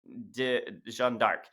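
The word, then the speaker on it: Jeanne d'Arc: or in French as uh you know Jean Jean dark um and this comes from her her father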